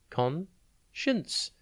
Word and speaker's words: conscience: today's word is conscience it is pronounced con shunts and it is spelt c o n s c i e n c e think con and then